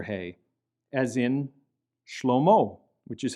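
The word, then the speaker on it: שלמה: letter he, as in Shlomo, which is how you say Solomon in Hebrew, Shlomo. And in this case as well, the he is not pronounced.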